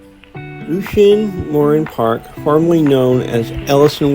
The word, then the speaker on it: Lucien Morin: All right, we are at Lucian Morin Lucian Morin Park. That's how you pronounce it.